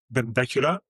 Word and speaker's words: Benbecula: It's on an island called, I think it's called Benbecula. That's how I would pronounce it.